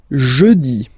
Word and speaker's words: jeudi: Next one, jeudi. Jeudi. Remember, when you combine this u, you get the sound jeudi, jeudi. So I insist a little bit, so make it softer.